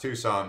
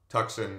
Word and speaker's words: Tucson: it it's actually pronounced Tucson but you know tuckson it's got that C in the middle and then if you're